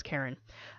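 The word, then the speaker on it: Charon: how to pronounce it was it Sharon Karen but i think the conclusion was Karen he is the the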